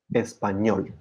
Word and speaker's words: español: So in all these words, universidad, español, profesor, reloj, actriz, vivir, the stress falls on the last syllable. Universidad, español, profesor.